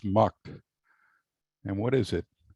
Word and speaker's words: MUTCD: one big sound effect m-u-t-c-d you often pronounce mucked and what is it